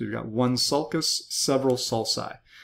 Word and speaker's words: sulci: Several of those are called sulci. So you've got one sulcus, several sulci. The hard C followed by U becomes a soft C when it's followed by I.